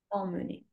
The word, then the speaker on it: emmener: Du coup, ben, bien attention à la prononciation de emmener. C'est pas émener, mais Amener. emmener.